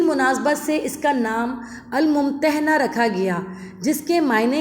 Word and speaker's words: الممتحنہ: سے اس کا نام الممتحنہ رکھا گیا، جس کے معنی ہیں وہ عورت جس کا امتحان لیا جائے، اور دوسرا تلفظ ممتحنہ ہے جس کے معنی ہیں امتحان